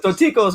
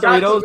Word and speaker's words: Dorticos: You forgot the C in his name. It's Dorticos, man, not Doritos.